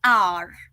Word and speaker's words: hour: okay so our though the word starts with H which is a consonant the H over there is silent okay so what we are saying instead is R okay so o vowel